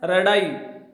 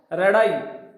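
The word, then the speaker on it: radii: का प्लूरल बनाते हैं तो उस समय इसका साउंड भी बदल जाता है और इसकी जो स्पेलिंग है वो हो जाती है रेडाई। क्या हो जाती है? रेडाई।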